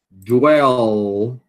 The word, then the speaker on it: dwell: Dwell. Tem que pronunciar o L, né?